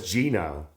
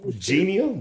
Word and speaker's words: genial: What is genile? Am I even pronouncing? That's what I was about to ask you. What that word? Genial.